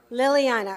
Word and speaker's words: Liliana: Is it Liliana? Liliana, oh, right. Liliana Balderas is a sophomore at Anaheim High School. She holds a career record of 74 with 50 wins coming by way of pins. Liliana is a second-time Orange League champion, second-time CIF